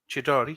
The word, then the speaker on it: Chidori: That's Chidori. Chidori. Chidori. Yeah. It's kind of got an Italian ring to it, unless that's just It's me Japanese.